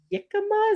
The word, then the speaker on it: jicama: uh mango pineapple and Jicama is that how you say it um with an H J is pronounced H oh jicama so I had jicama